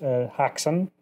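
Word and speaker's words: Häxan: double feature with is Haxan. Oh, great. Have you seen that, Arthur? I haven't. I'm trying to look it up right now. How do you spell it? Haxan. Hacks on, hacks off.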